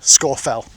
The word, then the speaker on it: Scafell: Listen to how they uh call Scorfell.